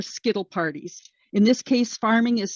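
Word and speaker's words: pharming: In this case, farming is spelled P-H-A-R-M-I-N-G.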